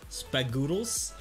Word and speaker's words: Spoodles: I saying it right spoodles I feel like I'm pronouncing a foreign word like noodles but goodles spoodles success H awesome well now